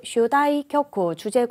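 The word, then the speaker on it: 主題曲: 또는 주제곡이라고 하셔도 되겠죠? 슈다이 쿄쿠, 주제곡을 슈다이 쿄쿠라고 읽으시면 됩니다.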